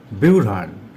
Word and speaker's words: ব্যূঢ়ান: আমরা উচ্চারণ করব বিউঢ়াণ।